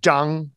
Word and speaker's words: zhang: E sound in there, that zhang, where your tongue is pulled back and there's no E sound.